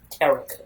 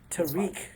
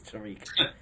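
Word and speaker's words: Tarik: So we're just gonna ignore the fact that Daniel pronounced it Tarek. Okay. Tariq Cohen.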